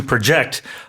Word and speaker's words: project: right uh and uh the verb form the to project the intonation being on the second syllable meaning to estimate or to forecast using either trends or data.